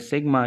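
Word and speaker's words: sigma: This is pronounce as सिग्मा यूज to denote the some of the given series.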